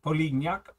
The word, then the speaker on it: Polignac: This guy here is a an exceptional brigade commander, and his name is Polignac, which is French. So, I had to look up how to pronounce that. Polignac.